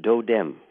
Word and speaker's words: totem: people don't know that that word totem is actually this and there's not a word I'm referring to it's dou dem it's a D it's a softer pronunciation and it's a Eastern